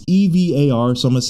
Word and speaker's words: Evar: Evar or Evar, it's EVAR, so I'm going to say Evar, let's say.